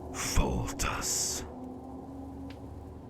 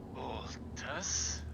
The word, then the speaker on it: Foltus: Foltus. Voltus? Okay. No, Okay. foal like young horse, and tus, 'cause it's epic.